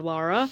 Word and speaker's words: Lara: is in England and her family and friends call her Lara and it is the same in the games, but I I think I do usually sort of tend towards the American pronunciation, but it is also spelled l a r a rather than having a u in it.